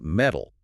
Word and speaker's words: metal: On this Reddit thread, someone was asking why Americans pronounce the words metal as in a steel beam and metal as in a gold medal from the Olympics exactly the same way.